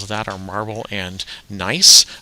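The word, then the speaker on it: gneiss: that are marble and nice uh is how that one is pronounced announced uh um nice and non-foliated meaning is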